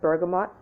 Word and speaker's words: bergamot: sage one part of bergamot or bergamo depending on how you pronounce it and two of